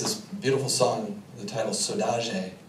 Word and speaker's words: saudade: And she has this beautiful song, the title Saudade, is how it's pronounced in Cabo Verdean, or Saudade.